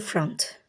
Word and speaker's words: front: Back to front. Back to front. Sondaki söz o sesiyle değil, a sesiyle telaffuz edilir.